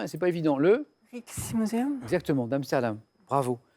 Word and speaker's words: Rijksmuseum: Et en plus, Michel, bravo, parce que vous le prononcez très bien et c'est pas évident. Le Rijksmuseum.